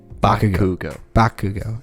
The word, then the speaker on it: Bakugo: There's no T. Bakugo.